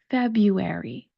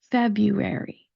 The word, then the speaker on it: February: There is the word airy, the adjective airy, when we're describing something as being light, as something being in the air, we say airy. A-I-R-Y. Airy. We're going to have that be our last syllable for this word, and then we're going to put it all together. Feb, you, airy. February, February.